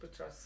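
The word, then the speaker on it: Boutros: And it's Julia Butros, is that how you say it? Yes, Butros, yeah. And it's a song Lebanese.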